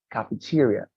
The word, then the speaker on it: cafeteria: Cafeteria, like as if you were mentioning two I's, like cafeteria, right?